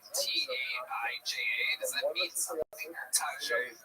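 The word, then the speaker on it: Taija: T-A-I-J-A.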